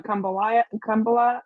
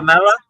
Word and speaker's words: Kumbh Mela: Do you go to Kambala? How do you say it? The Oh, Kambala. Kumbh Mela.